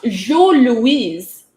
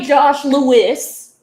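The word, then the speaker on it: Jos Louis: And I'm like, they're pronounced Jo Louise. Premièrement, ils sont les Jo Louis. Ils sont pas les Josh Lewis.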